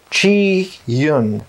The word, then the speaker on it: qi yun: Sheng tong, qi yun, like qi, like in qi, like the qi of the breath.